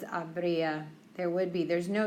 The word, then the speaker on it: habría: it's conditional tense, it's habría. There would be. There's no yo form. There's no to form. No nosotros. It's H-A-B-R, accent on the I-A. Habría. Okay, hacer, haría.